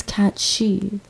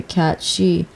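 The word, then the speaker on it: cat sìth: as a Sith cat but I think the original Scottish or Irish pronunciation is cat she these are powerful Spirits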